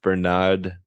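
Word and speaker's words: Bernardaud: this still has that I think it's pronounced Bernard b r naud you know ceramic magnet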